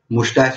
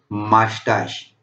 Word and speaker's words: mustache: कुछ लोग इसको मुस्टाच भी कहते हैं लेकिन इसका एक्चुअल प्रोनाउंसिएशन है मास्टाश, और बियर्ड यानी कि दाढ़ी।